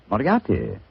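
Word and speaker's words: Moriarty: Moriati.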